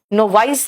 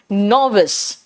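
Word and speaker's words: novice: बेटा नोविस, नोवाइस नहीं कहना, इसका प्रोनाउंसिएशन है नोविस।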